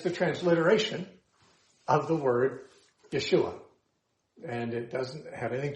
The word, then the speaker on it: Yeshua: Because Yeshua has a SH sound in it, and Greek doesn't have an SH sound.